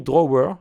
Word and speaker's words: Drawer: Alors ça s'écrit Drawer, je sais, mais ça se prononce Draw, donc c'est un petit peu bizarre, mais on peut cliquer ici, ça veut dire tiroir en fait.